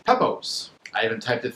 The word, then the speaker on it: Pepose: It's Pepose. I even typed it phonetically on my phone so I would remember.